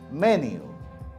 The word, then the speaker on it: menu: বাংলার জন্য হয়তো ঠিক আছে, আপনি মেনু বলতে পারেন, কিন্তু ইংরেজিতে কোনোভাবে অ্যাকসেপ্টেবল না, কারণ এই শব্দটা ইট অল derived from French. So শব্দটা কি উচ্চারণ হবে? মেনিউ।